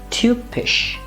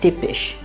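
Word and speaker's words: typisch: a letter i think its pronunciation is you it's very similar to the umlaut like this word would be tube fish and not tipish coming from english will tend to call it tip but it's tube tube fish repeat after me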